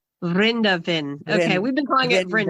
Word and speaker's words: Vrindavan: I knew I was pronouncing it wrong. Can you say it again? Vrindavan. Vrindavan.